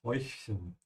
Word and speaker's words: Häufchen: Yeah, try to pronounce chen first. It's like Mädchen, yeah. And then practice the oi, and then add the h, hoi, Häufchen.